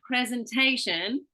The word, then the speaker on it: presentation: right so for example instead of saying presentation you're saying presentation uh well instead of